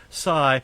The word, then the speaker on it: Cy: It's Doc and Doug just call him Cy, pronounced Cy.